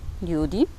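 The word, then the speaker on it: ljudi: Przykładowo w wyrazie ludzie, judi, no akcent pada na pierwszą sylabę, inaczej mówiąc na drugą od końca.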